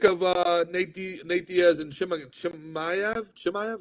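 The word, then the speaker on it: Chimaev: uh nate diaz and shimaku maya how do you say that let's i think it's chemiev um i think i think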